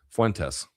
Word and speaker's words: Fuentes: Can you please pronounce his name correctly?" Like Tess as in Tesla. Fuentes.